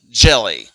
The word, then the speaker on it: Jellie: you could call me jelly I actually kind of like that name and it rhymes with Kelly so it's is something